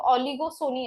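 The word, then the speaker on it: oligopsony: सोनी okay मैं बोलू ओलिगो सोनी ऐसा रीड करो वो पी साइलेंट रहेगा तो सोनी वर्ड जब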